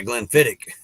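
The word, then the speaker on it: Glenfiddich: something wrong oh wait Glenn fittich yeah Glenn fittich okay so the accent is on the ick okay yeah yeah yeah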